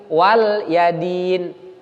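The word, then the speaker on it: وَلِيَ دِينِ: dari surat al-kafirun itu lamnya tidak dibaca baris kasrah Jadi bukan waliyadin tapi waliyadin Nah itu keliru qwerty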